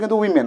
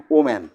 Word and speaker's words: women: যেমন আমরা দেখি এখানে মহিলা কলেজ, তাহলে মহিলা কলেজের ইংরাজি WOMEN, উইমেন, তাহলে উইমেন এখানে বহুবচন, উইমেনটা হলো বহুবচন। আচ্ছা, আসলে উচ্চারণটা কিন্তু উইমেন, আমরা কিন্তু অনেকে বলি ওম্যান, হ্যাঁ, আসলে ওম্যান, ওমেন